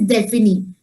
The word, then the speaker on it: définis: And then for saying definite articles, for definite, you have this word DEFINIS, and the pronunciation is défini.